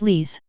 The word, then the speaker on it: Lais: He smiles politely. Pronounced Lees.